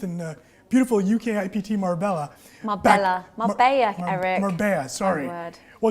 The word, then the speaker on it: Marbella: Marbella, Eric.